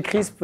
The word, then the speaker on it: Crrsp: J'ai dit Crisp. Ça s'écrit C-R-R-S-P, donc déjà c'est une énigme. Est-ce que je l'ai bien prononcé? C'est quoi ce nom? Chez Crisp, ça croustille Marie.